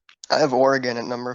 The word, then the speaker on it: Oregon: Like, It's just literally like factually incorrect pronunciation. Like it's literally Oregon. You can ask any native person from Oregon. It's Oregon. It's not Oregon.